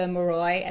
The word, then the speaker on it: Moroi: Yeah, and the fact that the whole encounter with the Moroi, that's how I'm pronouncing the creature thing, Moroi.